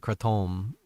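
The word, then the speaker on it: kratom: Uh and that's how you actually pronounce it. Crettom.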